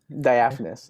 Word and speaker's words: diaphanous: How do you pronounce it? Diaphanous. Diaphanous, yeah.